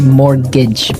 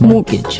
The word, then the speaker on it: mortgage: Yeah, it has a T in it, but you don't pronounce it. You say mortgage. Mortgage.